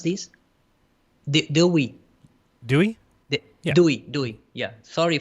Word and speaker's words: Dewey: And in fact, extends and in fact, in the 20 decade, 1920, how you pronounce this? Dewey.